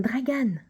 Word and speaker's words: Dragan: ça peut-être ensemble dragen non pas dragen Dragan c'est il y a pas de U ça s'écrit tout simplement alors